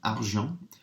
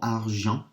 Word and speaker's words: argent: words, think, right, okay, argent has got a silent T at the end, argent. So I know argent really, really well.